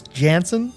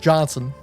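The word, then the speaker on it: Janson: trying to break the habit of saying clus Jansen I found one of those Bullpen bulletin pronunciation guides a while back and apparently it's pronounced Johnson Terminator 2 number three was ranked the 68th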